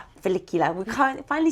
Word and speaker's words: follicular: one where you be like felicular felicular.